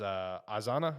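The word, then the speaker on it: Izana: And as this arc goes on and you get introduced to a couple other characters, such as Azana, is that how you pronounce his name?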